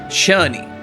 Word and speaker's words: Cherney: Cherney. That's how you pronounce that.